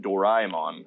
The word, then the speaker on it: Doraemon: First of all, Radley, it's pronounced Doraemon after Dorayaki.